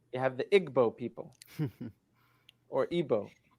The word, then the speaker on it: Igbo: You have the Igbo people or Ibo pronounced.